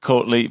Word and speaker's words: Court Leet: and spelled courtly or is it pronounced cour leet but actually spelled couret it's Court c